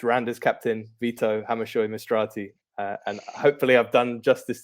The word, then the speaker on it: Hammershøy-Mistrati: in europe this season it's randa's captain vito hamishoi mastrati and hopefully i've done justice to your name